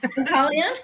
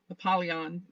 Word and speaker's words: Apollyon: It was like I wasn't I mean, it looked, yeah, I focused on the Apollo and then add the Eon, Apollyon.